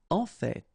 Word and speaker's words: en fait: En fait. So whether you pronounce the final T or not, you can hear both.